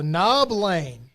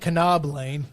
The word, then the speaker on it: Knob Lane: They had the silent K in good day mate land. Yeah. So, Knob Lane. Oh, well, I mean, it's not Canob Lane, right?